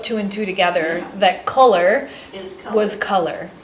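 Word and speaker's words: Culler: because it's all about color and it's pronounced color but it's spelled different so I like your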